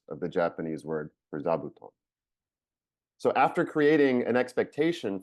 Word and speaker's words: zabuton: know it's because of the Japanese word zabuton that you could not help but pronounce as sauton because you were made